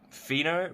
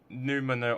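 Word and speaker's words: pneumono: and um I realized I pronounced it pheno but it's actually numo ultra microscopic so the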